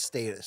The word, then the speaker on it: Status: I think it's in in UK talk in brit speak it's pronounced status status yeah fair enough